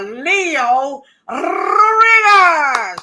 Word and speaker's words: Leo Rivers: Put your hands together for Leo Rivers. You got to roll your R's.